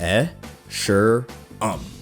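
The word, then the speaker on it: Escharum: content creators like me how do you pronounce esheram and it's pronounced e sure um g thanks 343 the next important thing that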